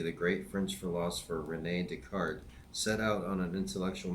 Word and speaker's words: Descartes: I know it looks like it's Descartes, but I'm pretty sure it's pronounced Descartes.